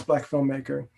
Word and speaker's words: BLKFLMMKR: And it's spelled it's no vowel, so it's BLKFLMMKR. So that's Black filmmaker.